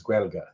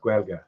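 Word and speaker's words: Gaeilge: Um but the Irish word for the Irish language is Gua. Okay. And it it kind of looks like Gaelic but with G's instead of any hard letters but it's pronounced Gua.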